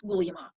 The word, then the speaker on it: Guglielmo: Remember, his first name is pronounced Guglielmo.